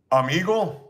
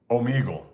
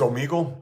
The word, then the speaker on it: Omegle: Have I heard of Amigle? I know I'm butchering that. Omegle. I guess it's Omegle. That's how you pronounce that.